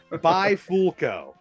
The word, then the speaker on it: Bifulco: joke because I just I can't get it by fulco that yeah that was pretty good I'll give